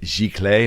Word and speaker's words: Giclée: Is it Giclée? Am I pronouncing that Yeah, correctly? Giclée. Yeah, Sure, that's something.